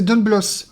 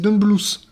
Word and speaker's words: Don Bluth: Moi, je disais Don Bluth, mais c'est Don Bluth. Bon, écoute, hein, c'est comme ça que ça se prononce.